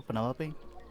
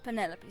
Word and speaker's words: Penelope: is that short for Penelope officially yes but I never can be bothered with all four syllables of it Penelope sounds a little ostentatious